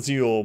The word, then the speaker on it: Zell: Zell, but you pronounce it Zeal, but people call you whatever, okay.